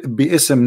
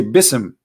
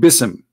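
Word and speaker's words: بسم: say you see here you didn't say be ISM no more here they say BISM so it's not an error scribe it's an error in the pronunciation are you getting my point because they are not saying and when they recite the Quran they don't say be awesome and it's written wrong no they recited BISM and I will tell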